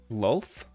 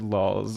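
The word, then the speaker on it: Lolth: Loth? Lols. You pronounce it lols.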